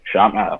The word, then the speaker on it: Tchami: Listen to like more chill stuff, like not Sham. I'm about to mispronounce the name live on Shami.